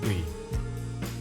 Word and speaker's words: ㅢ: "ㅢ". Think of it as "ㅡ" plus "ㅣ". Go from "ㅡ" to "ㅣ" and pronounce it as one syllable.